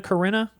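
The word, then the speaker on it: Corrina: Corina.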